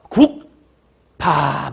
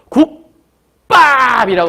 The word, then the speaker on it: 국밥: 그래서 국밥 이렇게 하지 않고 국밥이라고 발음을 하게 되는 거예요.